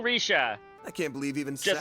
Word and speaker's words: Rixia: I'm willing to bet that she said it the way that that English speakers will say her name, which it would be like Rixia or something like that.